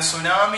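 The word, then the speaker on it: tsunami: ഉദാഹരണത്തിന് സുനാമി എന്ന വാക്കിന്റെ ആദ്യത്തെ അക്ഷരം ടിയിലാണ് തുടങ്ങുന്നതെങ്കിലും ടി സൈലന്റ് ആയിട്ട് നിൽക്കുന്നു, നമ്മൾ ടി ഉച്ചരിക്കുന്നില്ല, പകരം നമ്മുടെ എസിലാണ് നമ്മൾ ഉച്ചാരണം തുടങ്ങുന്നത്. അതേപോലെ അവർ, ഓണസ്റ്റ് മാൻ, ഇവയുടെ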